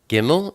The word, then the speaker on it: gimel: now we turn to gimel gimel is the number three and it's pronounced like a G like get it's the picture of